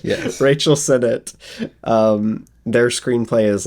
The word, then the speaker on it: Sennott: I keep wanting to pronounce it like it's French. It's not French. Yes. Rachel Sennott.